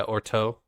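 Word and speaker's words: Urteau: city the city's name erto isn't that the name of the city yeah orto that they they pronounce it with more of an O than a u in the in the book so orto so in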